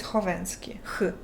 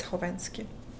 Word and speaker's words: Khovanski: The K is silent in your last name. It is silent. It's Khovanski. Because I added K because KH is meant for the H sound in English.